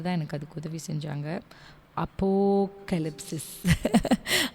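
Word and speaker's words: ἀποκάλυψις: நம்ம ஆல்ரெடி உங்களுக்கு அந்த டைட்டில் அதை கரெக்டாக ப்ரொனவுன்ஸ் பண்ணுறதுக்கு தான் என்னுடைய கணவர் தான் எனக்கு அதுக்கு உதவி செஞ்சாங்க. அப்போகலிப்சிஸ். அப்போகலிப்சிஸ்.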